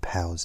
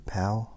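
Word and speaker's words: Pau: And I read Pow's out. Poo? Pow? I'm not sure how to pronounce. P-A-U. Pow. Pow.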